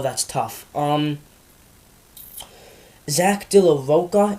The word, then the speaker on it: Rocha: Zach De La Roca, it's either Roca or Rocha. I apologize if I'm not pronouncing it right, although I'm pretty sure it's Rocha. So I'm just going to say that.